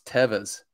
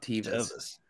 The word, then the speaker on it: Teva: instance instance of sandals i've been saying it wrong this whole time it's tevas it's not tv's no idea yeah that's